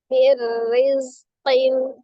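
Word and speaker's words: مِنْ رِزْقٍ: Berarti tadinya min rizqin, maka dibaca mir rizqin, mir rizqin.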